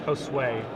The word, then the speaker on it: Josue: wrap yeah absolutely and the pronunciation of the name apparently is josue so we see an